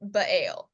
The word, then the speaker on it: Baal: But the first thing that Gideon is called to do is to pull down the altar for Baal, or Baal, many ways to pronounce it.